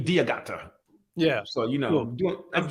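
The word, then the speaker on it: D'Agata: I like it yeah well English you see the D then apostrophe diagata yeah so you know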